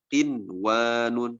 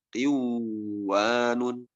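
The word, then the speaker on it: قِنْوَانٌ: Kemudian huruf kata qinwanun, gak boleh dibaca qiwanun.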